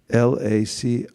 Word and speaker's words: LaCroix: who said it Lacroix how do you spell that l-a-c-r-o-i-x this means Lacroix anybody heard LaCroix I'm